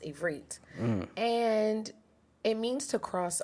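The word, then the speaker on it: עברית: All right, so Hebrew, which in Hebrew is actually pronounced Ivrit, and it means to cross over, right?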